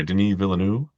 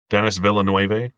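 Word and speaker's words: Denis Villeneuve: we have arrival by Deni villanu Dennis villan depending on how you want to say it wrong um hassa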